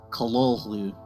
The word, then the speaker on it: Cthulhu: and we'll show you how to actually pronounce it it's more like how did hp lovecraft pronounce this word well the short answer is callallu so this game came